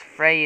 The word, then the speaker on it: Frew: His second, it's Frey is spelled F-R-E-W.